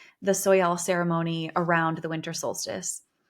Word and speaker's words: Soyal: the American southwest celebrated soal I believe is how you say the soyal ceremony around the winter